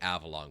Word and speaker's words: Avalon: company that sent this shipment out was the Avalon Corporation okay Avalon Avalon Avalon a AV a